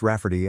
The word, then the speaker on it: Rayfarty: my sister wanting to name my niece Rayfarty, pronounced Rafferty and not at all like Ray Farty.